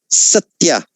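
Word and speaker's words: सत्य: Well, Ashina, can you go back and just pronounce the word satya again? Satya. Satya. Yeah. It is almost not a double, but it is. There is something there. Almost like a 1.5 meter.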